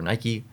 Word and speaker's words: Nike: nhl this is uh nike or nike depending on how you want to pronounce it but this is definitely